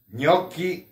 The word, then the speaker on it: gnocchi: Gnocchi di patate. Słyszeliście? Gnocchi. W Polsce jakoś inaczej czytacie, jak jesteście w restauracji włoskiej, a to się czyta gnocchi di patate, ale w restauracji pisze jako danie tylko gnocchi.